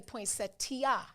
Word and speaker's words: poinsettia: You have to say poinsettia. Poinsettia. It's setia.